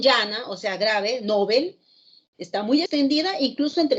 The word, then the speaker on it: Nobel: seguir la recomendación desde la raíz nobel aguda como su pronunciación en el sueco después de eso no